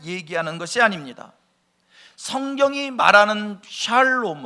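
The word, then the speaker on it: שלום: 이 화평 이란 말을 히브리 말로 샬롬 이렇게 발음 하구요 헬라 말로 는요 에이레네 이렇게 발음을 합니다 그리고 이 샬롬 이이의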